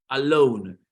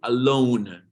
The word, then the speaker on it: alone: O puede ser que vivas solito, alone, que se pronuncia alone. La O se va a pronunciar como una OU y vas a decir alone. Esa N que suene.